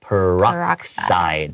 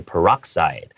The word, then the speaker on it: peroxide: Hydrogen and then peroxide. So the X is pronounced more like an S. Okay, peroxide.